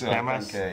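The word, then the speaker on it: Γειά μας: Yamas.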